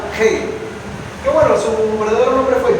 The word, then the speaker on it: Hegel: Se lee Hegel. La H se pronuncia como J. Hegel.